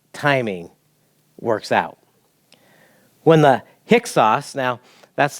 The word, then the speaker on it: Hyksos: When the Hyksos, now that's not how it looks like when you spell it, but that's how you pronounce it, kind of fun to say.